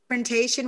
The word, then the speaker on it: confrontation: never say it anywhere confrontation we can say i was saying confrontation without the with the silent t but that doesn't even